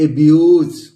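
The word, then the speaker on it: abuse: तो ये क्या हो गया, ए हो गया, और ये बी हो गया, और ये यू प्रोनाउंस किया, और ये ज हो गया। तो क्या हो गया दोस्तों, एब्यूज।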